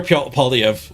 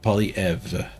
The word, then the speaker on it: Poilievre: You to pronounce it with a V or at the end? Pierre Poilievre. So V. Poilievre. That's my understanding. I might be getting it wrong.